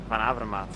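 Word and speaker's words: Van Avermaet: Uh, I heard you have some trouble with pronouncing my name. It's Greg Vanavas. Panavra.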